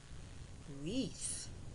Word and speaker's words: wreath: Wreath, W-R-E-A-T-H, wreath. When GH is silent, it says nothing, as in night, N-I-T, night.